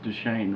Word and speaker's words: Duchesne: He's from the Ute tribe here in the Fort Duchesne area. It's Duchesne, right? Yes, Duchesne. You've got to get the pronunciation right, you know.